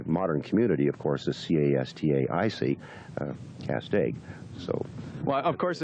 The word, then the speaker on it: Castaic: And but if you look at a map, this area is spelled C-A-S-T-A-C without the I. Mm-hmm. And the modern community, of course, is C-A-S-T-A-I-C, Castaic.